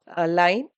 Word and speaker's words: lien: Actually, when I refer in a Google, they pronounced as line. So all of a sudden எனக்கு லீன் வந்துச்சு.